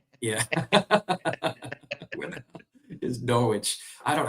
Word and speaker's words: Norwich: Oh, the W is silent.